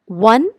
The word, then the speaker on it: one: यहाँ पे ONE, वन, हालांकि ये ओ से स्टार्ट हो रहा है, लेकिन यहाँ पे ओ का प्रोनाउंसिएशन व की तरह हो रहा है, वन वे रोड।